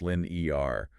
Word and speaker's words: Linear: everyone knows it's pronounced Lin e r not like the the math term I actually didn't know